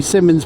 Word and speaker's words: Simons: Yeah, see, we say Simmons, but it's actually spelt Simons, isn't it?